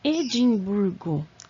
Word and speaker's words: Edimburgo: o país Escócia tão Edimburgo que palavra lá é que classificação ela é em Edimburgo a sílaba tônica é a penúltima Então vai ser paroxítona e arquipélagos ali Nós